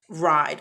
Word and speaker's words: ride: Ride, R-I-D-E, I-D, but the E is silent.